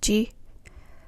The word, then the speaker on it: 時: In the previous conversation, it is pronounced as ji. 何時ですか? What time is it? 1時です. It's 1 o'clock. It's also pronounced as ji in words like 時間, time.